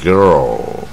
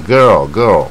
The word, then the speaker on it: girl: 念不准，它是音最往下啊， girl 就是下巴跟舌头往最下 girl 啊，而不是一般的 girl 那 girl 往下走啊，所以